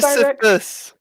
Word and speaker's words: Sisyphus: Sisyphus.